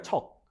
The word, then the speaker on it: 척: 그게 첩이 아니라 척. 열 척. 척으로. 어, 발음 조심하세요.